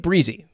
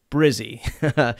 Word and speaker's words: Brizy: today is brizzy 2.0 i've been calling it breezy the folks over at brizzy pronounce it brizzy so brizzy 2.0 this